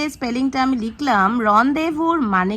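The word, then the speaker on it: rendezvous: Last যে final ওয়ার্ডটা লিখেছি দেখে নাও স্পেলিংটা, এটাকে তোমরা অনেকে প্রোনাউন্স করো রেন্ডেজভুস, বাট এটার কারেক্ট প্রোনাউন্সিয়েশন হবে রনদেভু। তো এবার তোমরা আমাকে বলো, এই যে লাস্ট যে স্পেলিংটা আমি লিখলাম রনদেভুর মানে কি কেউ জানো?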